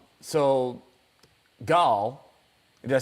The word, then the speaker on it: Gal: So now in this, and I guess it was Gail, Gail. I know it seems like, is it Gal? That's what I'd like to know too.